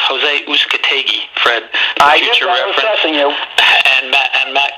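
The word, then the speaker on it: José Uzcátegui: middleweight fight to open it up with it's pronounced jose uzcategi fred and matt and matt caraboff which should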